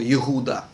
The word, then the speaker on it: Иуда: Правильное произношение этого слова – Иуда.